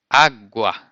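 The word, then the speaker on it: água: agua agua repaired it the strong part of the world is in the beginning you say agua the next word is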